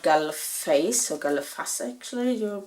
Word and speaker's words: Galle Face: Then we went to the promenade, which is called Galle Face, or Galle Face actually, you pronounce it.